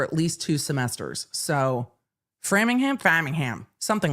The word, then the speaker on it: Framingham: was held at Massachusetts State Police Headquarters in Farmingham Farmingham massholes look what I moved to UMass ammer I couldn't pronounce Worcester correctly for at least two semesters so Framingham Framingham something like that took place with testimony